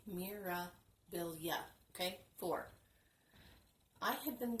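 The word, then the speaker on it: Mirabilia: hard time saying this it's because I've been making it for syllables instead of three it's supposed to be Mira bill yeah okay for I had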